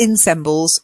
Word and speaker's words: ensemble: Not ensembles, ensembles. It's from the French. Ensemble. Yeah, we've retained the Frenchation. We called it ensemble. Yes, okay. Yeah, that's it, ensemble. So we like to take the French pronunciation.